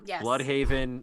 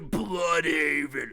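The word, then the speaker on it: Blüdhaven: both there okay like you've got new york bloodhaven metropolis like they're all what is my bloodhaven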